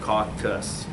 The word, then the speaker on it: caucus: See, I hear it caulk. K-A-U-K. Caucus.